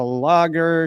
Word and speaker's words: Lager: guest today is bianca lager she is the president of social intelligence corp i pronounced your last name right right yeah it's just like the beer logger okay cool that's what